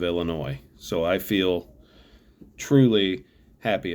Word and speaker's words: Illinois: in my class to stop pronouncing the S on the end of Illinois so I feel truly